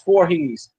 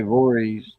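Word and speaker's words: Voorhees: That's uh We just say we don't say uh we don't pronounce the H in it. We just say Vores.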